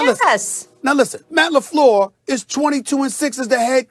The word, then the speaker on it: LaFleur: Okay, Matt LaFleur. I mentioned that name, right? Did I say correctly, Sometimes Molly? you think you're from Petty. All right. No, yes. Listen. Now listen. Matt LaFleur is 22-6 as the head coach.